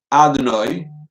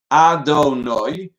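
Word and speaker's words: אֲדֹנָי: Many people incorrectly pronounce Adonai when saying a bracha quickly. The correct pronunciation is Adonai with the accent on the third syllable, Noi.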